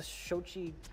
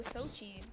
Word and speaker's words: Sochi: new one um uh not quite sure how to pronounce this um the shojai I said I have something to do with the Olympics the shochi Tabuchi show oh Sochi yeah the bronze medal for